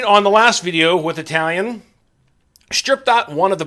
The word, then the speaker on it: Talion: my last video because i was calling it a talon and there's an eye in there i'm i know guys